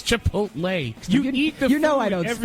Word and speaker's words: Chipotle: Did I mispronounce that? Chicote from Star Trek. Chipotle? It's Chipotle.